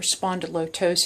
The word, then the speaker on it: spondyloptosis: this area right here, it is called a spondyloptosis, or spondylotosis is the proper pronunciation. I say loptosis because it helps me remember how to spell it.